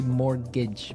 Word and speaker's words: mortgage: with a t yeah it has a t in it but you don't pronounce it you say mortgage morage so not Mort